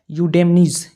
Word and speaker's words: Eudynamys: लेकिन इसका वैज्ञानिक नाम क्या है, यूडेमनीज। ई साइलेंट रहता है, EUDYNAMYS, यूडेमनीज।